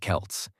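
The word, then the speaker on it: Celts: These ancient people were called the Kelts, pronounced Kelts, and they didn't have Instagram or iPhones.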